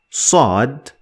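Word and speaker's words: صاد: about so in order to pronounce Sode Sode Sode Sode need to left the back of your tongue to the roof of your mouth to get it the best way Sode Sode the four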